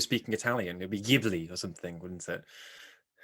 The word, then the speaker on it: Ghibli: that way and it's definitely jibi and not gibly right so you're you